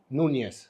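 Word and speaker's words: Núñez: tadi Suarez sama Suarez Nes bacanya nyes kalau kita nunyes nunyes benar nunyes Nes Nes susah ya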